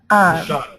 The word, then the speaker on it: Ishada: I believe it's pronounced Ishada. Ishada, that's right.